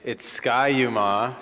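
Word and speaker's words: Ski-U-Mah: It's ski-u-ma, just to say it correctly.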